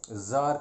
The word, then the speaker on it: tsar: वहाँ पे रशिया में किंग को ज़ार कहते हैं, TSAR इज़ द स्पेलिंग।